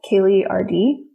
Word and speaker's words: Kaely: me on instagram at kayleerd my name is spelled weird for kaylee it's k-a-e-l-y and then my website's